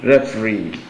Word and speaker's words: referee: syllable syllable refug G the same thing that URS with option b referee ref the so the stress is on the last Sy or the third syllable in the two words